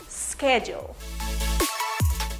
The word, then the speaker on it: schedule: La combinación SCH usualmente al final de las palabras se pronuncia con sonido SK. Por ejemplo, skim, schedule.